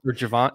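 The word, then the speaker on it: Gervon: Or Javon. Is it Javon Dexter? It's spelled Gervin. Everybody in his life says Javon. Like, his high school coach, his mom, like, everybody says Javon.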